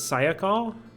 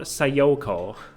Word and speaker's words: Sayoko: a second that reason I've always pronounced her name as Sako and not sayoko I always like had the emphasis on the first and last syllables not on the second and last but I'll try to pronounce it the way they do do in game this is the research